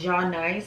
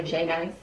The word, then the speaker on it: Jai Nice: So her name is pronounced Ja Nice, but everybody calls her J Nice.